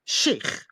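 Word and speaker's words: Sheikh: I He's saying stop saying chic in the Americanized ways and say shake, which is what it would be in the in proper Arabic.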